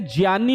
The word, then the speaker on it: ज्ञ: हैं ग से ज्ञानी ग से ज्ञानी नहीं होता है ज से जनी होता है जनी यानी यह किससे